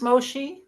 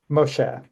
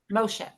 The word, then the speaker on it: Moshe: you keep going now is it pronounced MOSI Moshe Moshe sorry I'm a convert